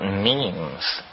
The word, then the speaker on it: meme: last year about about memes you know what memes are memes are the smallest units of a concept and they're like genes the word is deliberately constructed to rhyme with gene and so when i